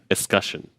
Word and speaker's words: escutcheon: Escutcheon? Escutcheon, I think. That doesn't sound right. Somebody's going to correct me in the comments. I remember, rhymes with discussion. Escutcheon.